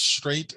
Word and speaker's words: strait: is a geographic term it is pronounced straight but there is no g or h in the word well okay this one